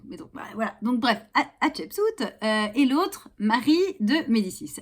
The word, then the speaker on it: Hatshepsut: Non, ça n'est pas si difficile à prononcer. Chapeau, si vous voulez. Shep, comme un cep quand on a un cheveu sur la langue, vous voyez, voilà. Soute d'un bateau.